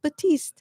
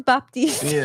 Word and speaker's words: Baptiste: that was no it says just batist but everybody says Baptist kind of thing already I